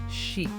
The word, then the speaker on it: sheet: Sheet. Very soft e sound. Not a short I.